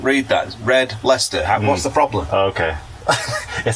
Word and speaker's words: Red Leicester: piece of that uh what how do you pronounce it lechester read it read let how can you not read that red leicester what's the problem okay it sounds disgusting but